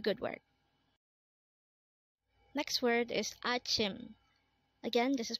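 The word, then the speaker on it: 아침: keep up the good work next word is Achim again this is pronounced as Achim and this is the Korean term for morning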